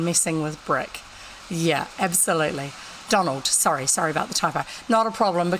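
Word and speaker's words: Domhnall: the middle of it d-o-m-n h-a-l as Donald like Donald but without the D on the end and that's actually how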